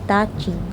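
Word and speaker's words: Ta Chin: ठीक है, ताचिन उसे बोलती थी, ये प्रोनाउंसिएशन थी ताचिन, called by चाइना, greater चाइना इसका मतलब था।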